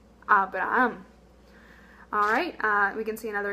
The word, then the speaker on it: Abraham: So, the same name in Spanish, we would say Abraham.